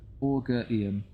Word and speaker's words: Augurium: Someone tell me how to pronounce that word. It's Augurium.